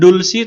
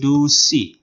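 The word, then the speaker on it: 두시: Jam 2 itu bukan dulsi tapi dusi.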